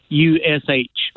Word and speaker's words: Natchitoches: And that's pronounced Natchitoches. Natchitoches. Natchitoches. Nakitush.